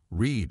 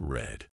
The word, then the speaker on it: read: keep things interesting read in the present is pronounced like read Reed in the present is pronounced like Reed but in the past it's red but in the past it's red mind blown